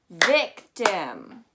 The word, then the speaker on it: victim: So when you have that k that's stressed, or at least that it's 2 or more syllables, you know that that I-M is going to turn into a U-M sound.